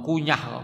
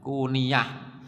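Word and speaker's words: كنية: nya ya kuniah banyaknya ada yang ngomong kunyah bacanya kuniah jadi abu Skak abu-abu Itu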